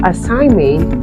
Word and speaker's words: assignment: malignance this is silent we have assignment this is silent we have sign this